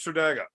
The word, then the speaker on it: Tredegar: So they all fuck it up, and we were saying it right, but apparently it's Tredega.